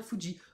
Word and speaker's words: Fuji: Et oui, ça se prononce bien Fuji.